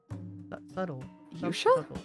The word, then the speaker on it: subtle: way subtle is pronounced there's no D in subtle there's a b so why is it pronounced that way subtle what no I'm actually